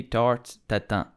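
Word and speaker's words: tarte Tatin: say Tata data Tata you have to pronounce the r like the French do you can also say tarte Tata do not pronounce it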